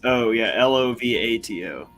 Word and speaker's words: Lovato: Lovato, did I spell it right? It's Ovi. My bad. It's Lovato.